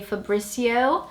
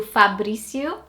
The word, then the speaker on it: Fabrizio: But in English-speaking countries, you'd probably say Fabrizio. Slightly different to Fabrizio, you get Fabrizio.